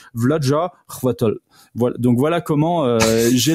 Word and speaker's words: Chvátil: Et puis le til, il est vraiment t il est faut pas faut pas prononcer le i en fait. Donc en fait c'est vjaatol.